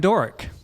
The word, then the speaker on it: Dhoric: I'm Doric. How do you spell that? DHORIC. C? E. Yeah, it's Middle Eastern. Doric. The AUGHT is silent.